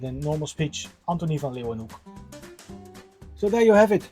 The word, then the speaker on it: Leeuwenhoek: I think this is pronounced in every language differently, but in Dutch this is pronounced as U. So it is pronounced as hook.